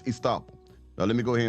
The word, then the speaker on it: estoppel: And it is pronounced Estoppel, because she's gonna say it two ways because she's unsure, but it's Estoppel.